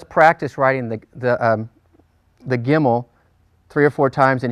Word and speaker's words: gimel: the Hebrew alphabet is called gimel and it's the letter it's the G sound in Hebrew all right so let's